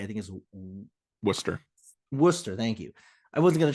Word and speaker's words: Worcester: Worcester. Thank you. I wasn't gonna try to pronounce that because I wasn't gonna get it right.